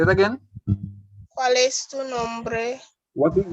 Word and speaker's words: cuál: ¿Cuál es tu nombre? What is your name? Oh, sorry, sir. ¿Cuál es? That's what it is, yes. So ¿cuál es? You know the accent on the U.